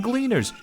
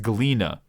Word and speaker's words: Gleaners: Oh look, it's some gleaners. Jesus Christ, Alize, you can't just drop a hard R like that. It's pronounced Gleena.